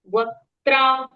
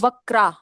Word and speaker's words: वक्त्रा: र और द का उच्चारण हम करेंगे पूर्ण। द्विरध। द्विरध। वक्त्रा। वक वक्त्रा और वक्रा।